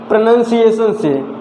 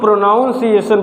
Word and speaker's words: pronunciation: related है प्रनंसीएशन word है इसको बहुत से लोग प्रोनॉन्सिएशन बोलते हैं यह भी एक प्रकार का मिस्टेक है में कन्वर्ट करेंगे जैसे प्रोनाउन अलग प्रोनाउंस अलग करेंगे तो इसको प्रोनाउंस बोलेंगे आदर वाइस प्रनंसीएशन ठीक आई होप की